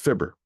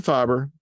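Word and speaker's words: fibra: make it to Mexico, it is pronounced fibber. So don't call them fiber. They will not know what you're talking about. As long as you call it fibber, everybody's on the same page.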